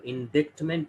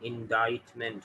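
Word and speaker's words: indictment: इंडाइटमेंट, इसमें सिर्फ मेंट का इजाफा हो जाएगा, तो इंडिक्टमेंट नहीं होगा, इंडाइटमेंट होगा। ये वर्ड है इंडाइट। इंडाइट वर्ब है, इंडाइटमेंट नाउन है।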